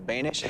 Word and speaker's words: Boenish: My guest name rhymes with Danish. His name is Carl Banish.